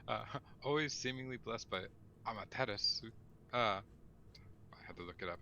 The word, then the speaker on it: Amaterasu: there's you don't normally the u is like a weird half silent u which happens a lot